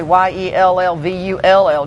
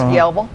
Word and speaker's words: Yellville: Yeah. And they're I'm glad you said Yellville, not Yellville, yelling your Raynard. Yellville. I could, Well, we always say Yellville, and people say, how do you spell that? So sometimes I say Yellvull, just like it sounded, because, they're smart. I bet, well, do you how you say it's Yellville? Just like it's Fayetteville.